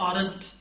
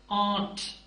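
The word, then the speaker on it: aren't: आप क्या प्रोनाउंस करेंगे आमतौर पर जो जवाब मिलता है वो होता है आरट देखिए इट्स नॉट आरट पहले बता चुका हूं एक्सेंट रिडक्शन में कि आर जो है वो बहुत साइलेंट होगा म्यूट होगा सो दिस इज आट सो इसके बाद अगर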